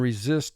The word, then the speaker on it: resist: try and resist temptation resist this is a two-syllable word the first syllable is re two sounds e the second syllable is zist four sounds resist mark the word notice the first s in this word represents its second sound deter deter i will